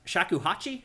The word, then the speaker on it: shakuhachi: Um, so in the first game there was a musical weapon called a shak shakuhachi. Is that right? Is that how you pronounce it?